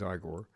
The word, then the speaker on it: Igor: as igore well igore eigor I we always pronounce it eigor but in the movie is igore um he's like the